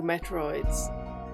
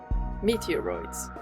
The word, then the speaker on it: meteoroids: I envy those two Metroids. Meteoroids, that's how you say it.